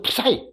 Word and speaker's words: PSI: 그냥 PSI 또는 프사이 읽을 때 푸사이라고 읽는게 제일 좋아요.